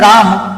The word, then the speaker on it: रामः: तो ध्यान रखना यह जो विसर्ग है इस विसर्ग का जो उच्चारण किसकी तरह होता है? ह की तरह। जैसे मान लो एक शब्द है राम और इस राम शब्द